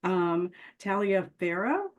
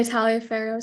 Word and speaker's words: Taliaferro: Taliaferro. Some people say Taliaferro, some people just say Taliaferro. Most of my family just says Taliaferro, kind of without that A.